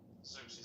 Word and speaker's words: Xerxes: Then you have the decree to rebuild the city, Jerusalem, and that's given in 457 BC by King something Xerxes. It's pronounced. Xerxes.